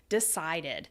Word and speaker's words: decided: which is two syllables the past tense becomes invited decide becomes decided we add that extra syllable and that's because after